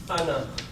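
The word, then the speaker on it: أنا: Now some things, this is written as ana, but it is pronounced as ana. Okay, noon is kept short.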